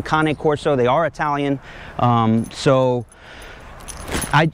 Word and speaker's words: Cane Corso: is a kane corso some people refer to them as cane corso's i like the pronunciation kane corso they are italian so